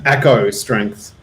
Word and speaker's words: Eco Strength: So if you need any help, Is that how you pronounce that? I mean, Echo. I don't know, man. It's just like it's part of my name and then strength. So that was just the easiest website title to come up with. So you can say it however you want. How would you read this, Mick? If you were reading, I read as Echo Strength. okay, there you go. That's the new pronunciation, technically and officially.